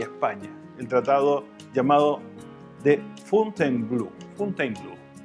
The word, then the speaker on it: Fontainebleau: el tratado llamado de Fontainebleau. Fontainebleau. En la pronunciación en francés es Fontainebleau.